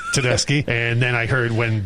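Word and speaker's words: Tedeschi: Well, I also mispronounced uh Susan Tedeski for the first 20 years that I was a fan. What is it? I It's Susan Tedeski. Yeah. How did you say it? Teddashi.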